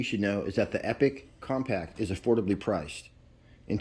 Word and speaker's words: Epoch: It's actually pronounced Epic, and the first thing you should know is that the Epic Compact is affordably priced.